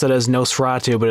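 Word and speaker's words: NOS4A2: vanity plate so yeah you pronounced it as Nosferatu but it's spelled NOS number for a number - alright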